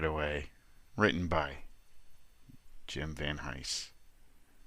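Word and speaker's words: Van Hise: away, written by Jim Va Hise. If I said Hein earlier, I was wrong. Jim Va Hise, I think that's the way it's pronounced, writer of Vegas Nights,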